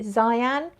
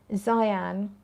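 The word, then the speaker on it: Xi'an: Let's go to, I think you pronounce it Xyan, X-I, and then there's a little apostrophe, A-N. Xyan, which is black pepper, nutmeg, cedarwood, rhubarb.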